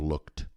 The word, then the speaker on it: looked: eu tenho olhado mas essa letra e não é pronunciada é I have looked você pronuncia o k e depois o d você só pronuncia o